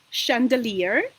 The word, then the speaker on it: chandelier: for example chemistry chemistry and if CH combination is pronounced sure so it means that these are French origin words like for example champagne or for example chandelier which is Ja or the Famous Brand Chanel okay so these are